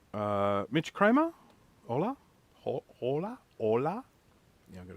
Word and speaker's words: hola: y uh Mitch Kramer hola hola hola yeah I got to say it right I was about to pronounce the h not supposed to do that uh unfortunately I lost